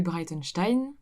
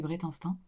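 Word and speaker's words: Breitenstein: famille à connotation allemande que je prononçais pas comme ça avant ma famille le prononcer Brette instinct et voilà je suis la seule dans la famille à le prononcer comme ça du coup j'ai un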